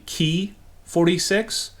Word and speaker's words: Ki-46: kit number is 61045 the correct pronunciation of ki-46 is actually key 46 and so I'm going